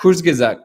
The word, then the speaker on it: Kurzgesagt: How do you pronounce that? Kurzgesagt.